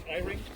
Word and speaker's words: Eyring: Yeah, for starters, pronounce Eyring. Eyring, thank you.